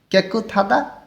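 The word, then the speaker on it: 깨끗하다: আছে কেক থাদা পরিষ্কার তধ্বনি বাচ্চিমটা হিউতের স্থানে গিয়ে থ এর মতন উচ্চারণ হবে ভাতমের নিয়ম কেক থাদা পরিষ্কার এবার এর নিচে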